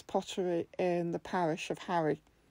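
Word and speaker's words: Harray: in the parish of Harry, which is not spelt like the boy wizard. It's spelt H-A-R-R-A-Y.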